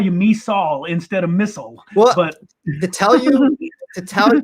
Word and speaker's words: Misol: you MISOL instead of MISOL. Well, but to tell you exactly the truth, like it's actually Korean. MISOL is how you say more like Korean.